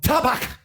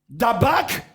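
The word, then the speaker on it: dabaq: Parce que c'est le mot dabak. Dabak en hébreu qui veut dire la loyauté. Dabak, D-A-B-A-Q.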